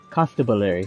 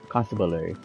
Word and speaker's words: constabulary: constable Larry and stability Constable area no it's Constable Earth so constable constabulary yeah I gotta say